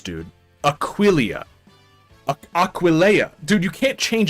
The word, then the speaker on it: Aquileia: Aquileia is how you say it.